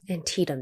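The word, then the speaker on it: Antietam: understand you were at antium antium that's how you pronounce it okay I'm glad I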